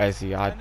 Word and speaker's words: Eze: The captain, Eberechi Eze, or Eze. I think it's Eze. I've heard people say it like that, so I think that's how you pronounce it.